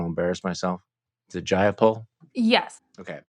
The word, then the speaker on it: Jayapal: We have the head of the Progressive Caucus, who's, can you pronounce her name? Because I don't want to embarrass myself. Is it Jayapal?